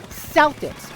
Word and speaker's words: Celtics: When you're talking about the basketball team, it is pronounced Celtics with a soft C.